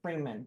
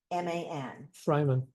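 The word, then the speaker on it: Freiman: it'd be I good to think they have, pronounce it Freeman, but I'm not positive. it'd be cool to have a FAQ on It's why your street is. F-R-E-I-M-A-N. Fryman.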